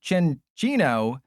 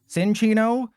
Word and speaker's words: Chinchino: And see, Clambert, see, because now people are gonna be like, wait, it's pronounced Chinchino. It's not pronounced Cinchino, like Tricky Jim taught me.